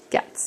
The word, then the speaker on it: Gatz: Cats, yeah. And Rhymes with he's cats.